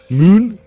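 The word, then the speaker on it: Møn: the island of Falster and the islands of Moon and Bowie. You're really nailing these. That's actually how pronunciations.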